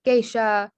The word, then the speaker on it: geisha: And so you see this in words like geisha, sensei, reiki, nisei. So that A sound is spelled EI.